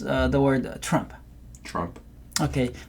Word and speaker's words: Trump: 뭐 그러면서 막 지나가는데 T가 확실하게 발음이 안 나는 경우도 많아요. 앞에 나와도 대단하죠. 여튼간에 T는 조심하셔야 될 것 같아요.